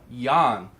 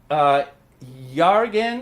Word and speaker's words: Jørgen: just so you know yaar again is pronounced yawn at Denmark and that's explanation the G is there to kind of make the vowel sound longer and so we we